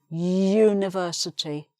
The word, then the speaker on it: university: Another exception again, because this word begins with a U, which is a vowel letter, but the actual sound when you say this word is a Y. University, university.